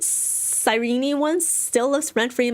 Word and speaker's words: Cyrene: I remember, like, way back, I was just like, Cyrene. And people are like, no, Ari, it's Cyrene. It's Cyrene. No, you're stressing the knee syllable a bit too strongly. It's Cyrene.